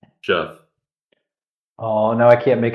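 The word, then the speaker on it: Gef: No, there's no O in it. It's not Geoff. It's Jeff.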